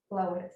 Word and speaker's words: Glowitz: And then I think it's looking at, is it what you seem to be articulating, Director, is Glowitz, am I pronouncing it correctly? That's correct.